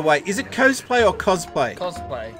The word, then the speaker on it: cosplay: out of the way is it cosplay or cosplay cosplay it's cosplay I've never heard it pronounced coastplay I don't know I'm I pronounce everything weird